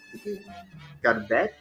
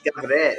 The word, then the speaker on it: גברת: Garbet? It's Gavret.